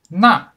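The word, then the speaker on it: 那: the left and the second difference is the pronunciation na meaning that is fourth tone na meaning with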